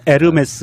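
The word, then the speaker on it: Hermès: 아 그냥 홀리 싫어하면 에르메스 입니다 이렇게 지욱 발음이 안 난다 면서 요금이 에서 h 가 발음이 안 되니까 우리가 운무 도 호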